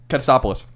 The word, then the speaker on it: Katsopoulos: How do you pronounce his real one? Katsopoulos.